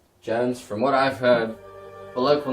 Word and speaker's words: Belloq: Working with a man named Rene Beloche. Are you sure his name isn't pronounced Belloc?